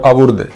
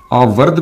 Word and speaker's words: آورد: آمد کہتے ہیں۔ اور آورد، اس کے 2 تلفظ ہیں، آورد بھی درست ہے اور آورد بھی۔ آورد آمد کی ضد